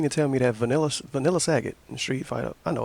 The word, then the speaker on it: Sagat: You mean to tell me that Vanilla Sagat in Street Fighter, I know it's pronounced Sagat, but you mean to tell me